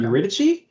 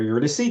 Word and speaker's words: Eurydice: Eurydice, or Eurydice, depending on how you pronounce it.